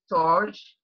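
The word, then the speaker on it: storge: that plays on us you have s T ou are GE and it may be pronounced torch and it is referring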